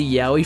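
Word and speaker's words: Yowie: It's pronounced the same way as the Yahi from Australia.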